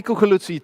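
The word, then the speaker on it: Coculuzzi: Well, help me welcome Tony Cuculuzzi to the stage.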